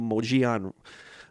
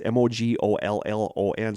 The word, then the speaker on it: Mogollon: have guessed along the moji on i always don't know how to pronounce this because it's m-o-g-o-l-l-o-n so i always want to say mogollon but it's mojion along the moji on